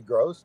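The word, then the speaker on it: Groce: youon I don't know probably probably gross g r o CE yeah okay wasn't sure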